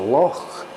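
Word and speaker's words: loch: lock no it's not a walk it's a lock you have this thing going under the back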